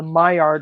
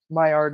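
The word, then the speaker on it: Maillard: also known as the myard reaction myard is spelled m AI l l d and it's an actual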